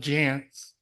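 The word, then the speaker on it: Jantsch: Sarah and her Father John Jance which rhymes with pants so I had to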